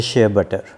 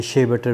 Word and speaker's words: shea butter: Effective है, वो है शिया बटर। इसको शिया बटर भी कहते हैं, शे बटर भी कहते हैं, मुख्तलिफ़ प्रोनाउंसिएशंस हैं मुख्तलिफ़ जगहों के हिसाब से।